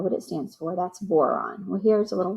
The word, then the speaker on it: boron: So it helps you remember boron because it rhymes with moron, is the leader of the stupid stairs.